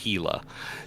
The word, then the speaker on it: Gila: So the Worm and the Mamba, 2 light drones, the Gila, 2 medium drones, and yes, it is pronounced Gila, and the Rattlesnake, 2 heavy or sentry drones.